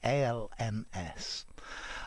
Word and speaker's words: alms: student arms so notice the pronunciation sounds exactly like arms but it's spelt differently alms okay this is a